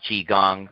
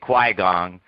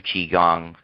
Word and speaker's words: Qigong: the people there who don't know how to pronounce Qigong they're pronouncing it qui gong and that's how you